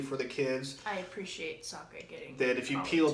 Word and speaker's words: Sokka: Sokka. Asaka.